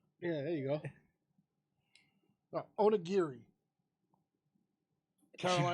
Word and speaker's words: Onigiri: Onigiri. She Caroline, butchered it.